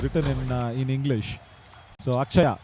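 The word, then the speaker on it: Atchaya: in in English so akaya actually is what the name is akaya and it is written as a t c h aaya that's how it is written in Tamil you know where there's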